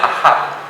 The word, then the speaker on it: Ahab: al reinado de un rey llamado Acab, aunque en hebreo se pronuncia Ahab.